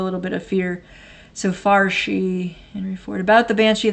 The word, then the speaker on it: fear: Farshi is the pronunciation. Okay. I've heard that. So you're saying that fair comes from the word, the Gaelic word fear. It's spelled fear. Fear. Okay. So it's Farshi.